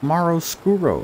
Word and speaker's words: Maroscuro: life i love you maro maro scuro that's how you pronounce that in spanish special thanks to those